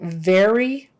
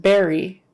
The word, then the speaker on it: very: violin um especially like very if you pronounce it Berry that's that's a completely different word in English a berry is like